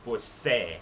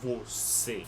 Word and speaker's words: você: That one up there is a more closed vowel sound. They're not going to have it like an open vowel sound. It's going to be closed. They're not going to pronounce it você. They're going to pronounce it você. Você. Make it like an is sound at the end because of the accent on top of the vowel.